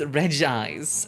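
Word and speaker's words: Regice: Regise? Regise? Regise. Regise. Hill? Oh. I should know this one. I should know this one because this is from the generation that I still played. pronounced Reg Eyes.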